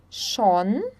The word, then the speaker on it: schon: Quando nós temos um S antes do CH, nós pronunciamos, então, o som do X, tá? Por exemplo, schwimmen, schwimmen, schon, schon, Schweiz, Schweiz.